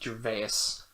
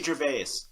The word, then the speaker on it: Gervais: That's how it's spelled. Ricky Gervais.